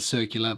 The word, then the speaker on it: Circula: had experience with his brand circular some pronounce it circula I don't know I'm an Aussie so I pronounce it circular but nonetheless the watch